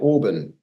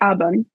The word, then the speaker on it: Auburn: Like, talk to us about am I saying it right? Auburn. Yes, that's actually how you should say it. I don't say it that way. I say Auburn. The A is different. So.